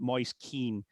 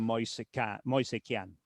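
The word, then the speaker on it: Moise Kean: But uh but Moyes Keen um again in Italy people will not call him that. They will call him Moan. Uh but um so he he made that change himself when he moved to England.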